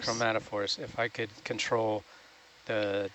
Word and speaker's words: chromatophores: Chromatophores. How do you say it again? Chromatophores. Chromatophores.